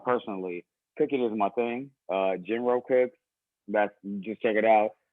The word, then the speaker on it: Gin: Jin like the drink.